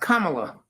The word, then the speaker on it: Kamala: for her um but like I lean it's pronounced Kamala kamla gotcha yeah so like um I I